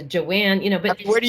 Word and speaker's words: Joanne: sometimes that you know my my name is joanne but my family in brooklyn it's it's got a long a it's a joanne you know but where